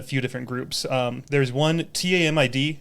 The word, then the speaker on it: TAMID: There's one, TAMID. How do you pronounce that?